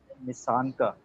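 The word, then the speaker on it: Nissanka: तो और जो उनके दूसरे ओपनर हैं आई थिंक निशान का जो है निशान का, that's how you pronounce his name.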